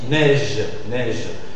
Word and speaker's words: neige: Neige.